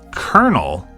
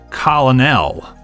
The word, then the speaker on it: colonel: Maybe I was just dumb as a kid, but I'd never seen the word colonel spelled before. So instead of pronouncing it colonel, I pronounced it colonel.